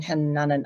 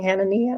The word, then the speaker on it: Hanania: She put me in contact with my social media, Aaron Hananan. I'm sorry I say his name wrong, Hanania.